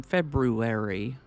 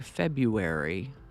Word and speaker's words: February: first r as in February others sort of ignore that first R and lean into the U like February hopefully you'll be relieved